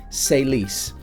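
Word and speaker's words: C'est Lise: by the name of say leise like French like c'est la vie so say C apostrophe est and then L is pronounced Lise say Lise her name is ELISA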